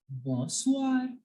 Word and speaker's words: bonsoir: Whenever OI is there, you will make the sound of wa. So here OI, we can see in the word good evening, there is OI. So I will pronounce it as wa.